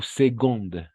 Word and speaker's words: seconde: Qu'est-ce que ça veut dire première ou seconde? Ah, ici, on va prononcer seconde con la G. Seconde, así.